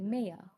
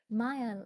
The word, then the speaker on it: Maya: Um like when you're going for graduation, I used to say because when when I say my name is Maya, right? M A Y A, people sometimes say Mayia.